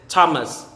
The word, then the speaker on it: Thomas: favorite is pamela pamela next is thomas thomas silent h t thomas thomas next is